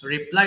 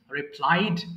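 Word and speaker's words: reply: সব একটু বলেন আরেকবার রিপ্লাই উত্তর উত্তর দেওয়া রিপ্লাই রিপ্লাইড রিপ্লাইড এটা ভুল করে অনেকে রিপ্লে বলে রিপ্লাই মানে পুনরায় চালু করা সেটা কিন্তু আরেকটা ওয়ার্ড আর এটা হচ্ছে রিপ্লাই এবার আসেন রিজেক্ট বাতিল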